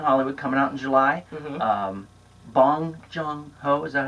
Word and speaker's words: Bong Joon-ho: Bong Joon-ho, is that how you say it?